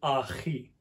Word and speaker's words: ahi: be added to get ahi. And as you can see, this H is different from the English H like ha or hat, but is more guttural like lok.